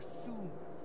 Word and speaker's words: Soon: Soon. Rhymes with moon?